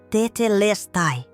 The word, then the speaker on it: Tetelestai: Pronuncia-se Tetelestai, com ênfase na terceira sílaba, les.